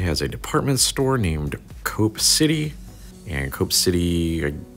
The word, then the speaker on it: Coop: this to be pronounced Co-op but it's actually pronounced yeah it's actually pronounced cope and not Co-op or Coop which would make sense